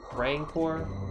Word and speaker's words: rancor: the side of this note that a rancor rancor that's how you pronounce it properly I wanna fight Oh